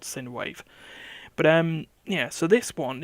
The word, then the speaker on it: Sine Wave: One was an iOS game called Synwave. But yeah. So this one is Synwave. You are, How do you spell that? S-I-N? SINE S-I-N-E. WAVE.